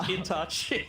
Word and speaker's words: Itachi: It's not Itachi. Get rid of the H. It's just Itachi.